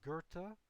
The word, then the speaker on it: Goethe: Now, in terms of literary artists, um- Goethe, that’s how you pronounce that.